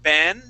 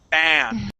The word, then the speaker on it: ban: Okay, it sounded like you uh you gave me a short e saying ben. Okay, remember we want to say ba ban. Okay, it's more of an a sound there.